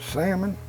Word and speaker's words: salmon: But if you pronounce it salmon, why put the L in there?